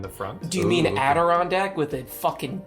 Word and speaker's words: Adirondack: Do you mean Adirondack with a fucking D? I've always pronounced it with an N. Have you read it? There is an N before the D, but there's a D.